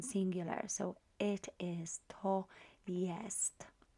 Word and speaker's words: jest: so it is to yes notice that we pronounce ye sorry j as ye and it always will be the case so um let's look